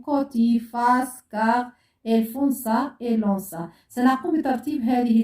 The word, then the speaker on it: car: Si avec A, O, U se prononce K. Exemple car, côté, culotte.